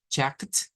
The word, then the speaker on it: checked: Nótese que si solo decimos check, es hasta la K. Pero si queremos decir checked, le tenemos que agregar esa al final. Entonces, estas palabras, la pronunciación correcta es checked.